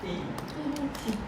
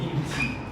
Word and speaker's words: inutile: Avec un N et un U, tu ne prononces pas U et N ensemble, d'accord? Mais ça c'est séparé. I séparé de N. Et N prononcé avec U. Inutile.